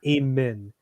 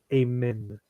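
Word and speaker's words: Aemond: say his name right it's not amen it's amend Targaryen who's interested yeah he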